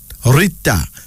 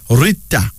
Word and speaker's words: Rita: Rita. R-I-T-A, pronounced Rita.